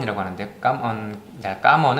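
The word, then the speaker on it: cảm ơn: 언 이라고 하는데 까만 깜 언 은 뭐 쉽게 생각하지만 영어로 기억하시기 좋은걸로 컴 영어로 커뮤니티에 컴온 컴온 이란 굉장히 비슷한 되니 깜 언 이라고 발언 발음 하시면 되구요 까만 이라고 하면 의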